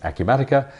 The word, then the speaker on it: Acumatica: in the UK and nobody knows who a Q Medicare is or even how to say the word so we've discovered it's a Q matica but who is a